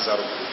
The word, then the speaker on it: Zaroko: la gare de zaroko à la gare de zaroko zaroko s'écrit Z a r o r o KO